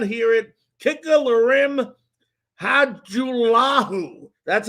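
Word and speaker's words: Lirim Hajrullahu: If you did not hear it, kicker Larim Hajulahu, that's how you pronounce it, has been signed as a kicker off the Washington football team's practice squad.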